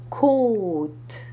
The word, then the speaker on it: côte: However, if you put an accent circonflexe on an O, you must pronounce it as a closed O sound, not an open A sound. So you would have, for example, bientôt. Côte, hôtel.